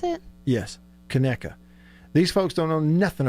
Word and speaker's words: Conecuh: Is that how you pronounce it? Yes, Conecuh.